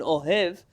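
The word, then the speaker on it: אוהב: Likely, if you read this in an Ashkenazi pronunciation, it all sounds the same anyways. But if you're saying oyev and ohev, they're two different people. One is a friend and one is a foe.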